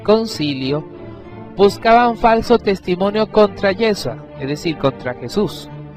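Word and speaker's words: Yeshua: buscaban falso testimonio contra Yesua, es decir, contra Jesús. Así se pronuncia en hebreo el nombre de Jesús.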